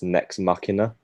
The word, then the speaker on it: Nex Machina: It's basically I don't want to be that guy, but I'm pretty sure it's Nex Machina.